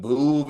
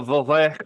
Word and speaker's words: Veuve: It's pronounced a Veuve Clicquot. No, it's Veuve. It's a Veuve Clicquot. It's Veuve. It's Veuve. We know that if you took French in high school like me.